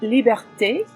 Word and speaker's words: liberté: It's pronounced liberté.